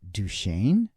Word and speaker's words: Duchesne: this name duch Shain it looks like Duchesne or dzne on a sign but when hearing folks pronounce it duain I wanted to dig